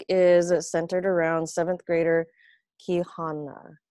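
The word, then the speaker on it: Quijana: centered around seventh grader ki hannah i think that's how you pronounce it q-u-i-j-a-n-a she is half guatemalan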